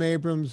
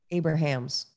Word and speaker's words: Abrahams: Can you look up Jim Abrams' movie about the keto? Abrams or Abrams? Abramson? It's Abrams, but it's A-B-R. Abrahams. Yeah, Abrahams. It's spelled that way.